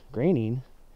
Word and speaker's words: Groening: Groening, a lot of people pronounce it Groening, but it's actually Groening, which reminds me of Portland's raining.